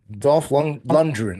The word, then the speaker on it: Lundgren: We'll talk in a second, but also from Rocky, The Expendables, Master of the Universe, and Aquaman, Dolph Lundgren. I always Dolph pronounce his last.